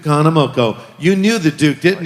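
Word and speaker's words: Kahanamoku: The Duke Kamana, how do you pronounce his name? Duke Hanamoko. Duke Hanamoko.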